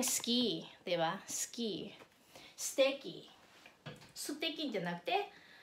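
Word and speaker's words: すてき: At tulad ito, suteki ang sulat, pero ang pronunciation niya ay steki, steki, steki, steki, steki, steki na ichinichiwo.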